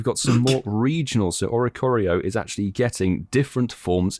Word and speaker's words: Oricorio: 8pm your local time i can't pronounce that orico oricari or ricarello oricorio there we go thanks in makes